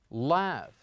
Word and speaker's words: laugh: Is it F, PH, or GH? It is exactly GH, and mostly GH, when it comes at the end, we pronounce it the same as we pronounce it here in the word laugh.